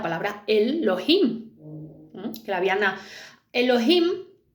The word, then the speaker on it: Elohim: Que la habían Elohim realmente es como dos, ¿no? Tiene dos sílabas. El y Elohim. Entonces, him es plural en hebreo.